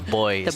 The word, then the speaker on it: buoy: This is the one Canadianism, the Canadian pronunciation that always gets me, the boys instead of buoys here.